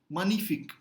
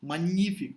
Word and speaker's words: magnifique: So here you say GN as simple ni, magnifique. You don't say magnifique. Okay, it's just impossible to say magnifique, right?